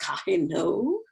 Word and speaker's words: Kohinoor: It's written Kohinoor, but I think it's pronounced Kahino. So I look for that one, and definitely I feel even more than that Kahinoor.